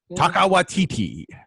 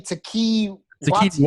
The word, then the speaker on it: Taika Waititi: Taika Waititi is how you say his name. I was saying it wrong for so many years. You were saying Taki Wati, right?